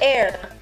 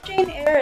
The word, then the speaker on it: Eyre: Air. Jane Air. E-Y-R-E. Jane Doe is so common. So it's Jane Eyre.